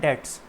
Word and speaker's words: debts: it is pronounced at debts b is silent the liability of debts